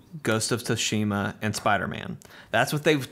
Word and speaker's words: Tsushima: Did you say Ghost of Toshiba? I said Ghost of Tsushima. Tsushima? Yeah. Okay. Is that not how you say it? Toshiba. Not Toshiba. That's the printer.